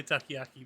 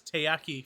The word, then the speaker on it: taiyaki: matt would say it he would say takayaki but it's taiyaki fanatic tayyaki fanatic sorry